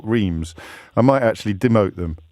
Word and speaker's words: Reims: Gennaro is in, well, I'm going to say Reims, Gennaro, even though it's spelt with an F on my screen. It is Reims, yeah.